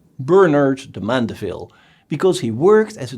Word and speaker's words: Bernard de Mandeville: Bernard de Mandeville, the name sounds a bit French, but you should pronounce it the English way, Bernard de Mandeville, because he worked as